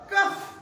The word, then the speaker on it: cough: कफ, क्या हो जाएगा, कफ।